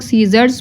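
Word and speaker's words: scissors: ना तो हम लोग सीजर्स पढ़ेंगे सी का वर्ड हम लोग नहीं बोलेंगे क्योंकि यहां पे सी जो है वह साइलेंट है नेक्स्ट है ब्रिज बी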